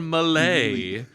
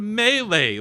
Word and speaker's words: melee: but whenever I hear somebody go me or malay it makes my skin crawl. It is pronounced melee like you are in a melee.